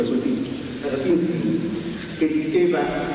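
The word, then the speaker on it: Баратынский: Non era forse, lo dico ai russi, il vostro Baratinsky, come si pronuncia così, Baratinsky, che diceva e parlava del volto comune e non comune, ma pur sempre del volto della poesia.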